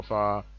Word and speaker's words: fa: m is pronounced me f is pronounced far s is pronounced so